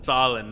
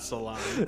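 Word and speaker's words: salan: Salin, not salon.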